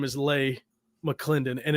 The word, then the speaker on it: Leigh: your name right yeah you said lay right l-a-y yeah that's how you say it a lot of people call me lee but so how did